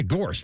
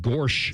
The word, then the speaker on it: Gorse: Gorse. Yeah. Gorse. Not Gorch.